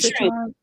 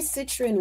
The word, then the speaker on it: citrine: Well, I know citron. Was it Citrine. citron? Yes, That's yes, citrine. I always say it wrong.